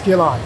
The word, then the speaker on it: keloid: Yes, keloid.